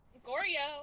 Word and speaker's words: Goryo: Goryo, Okay. like Froyo.